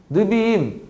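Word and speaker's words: נביאים: 니베임이 존재합니다 느림은 예언서예요 느비인 이거를 약하게 읽으면 내비임이라고 읽고 하는데 예언서 예언서가 좀 다르죠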